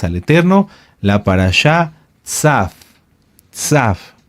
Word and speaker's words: Tzav: Tzaf. Tzaf se escribe T de Tito, Z de zorro, A de Alberto, y V, o V de vaca, V, o V labiodental.